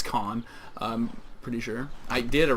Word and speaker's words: Caen: Caen, or Kane. It's Caen.